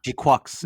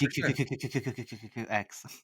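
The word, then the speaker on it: GQuuuuuuX: Wait, how do you pronounce it? GQuuux is how they pronounce it.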